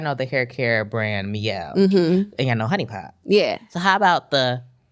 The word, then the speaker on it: Mielle: it says my L.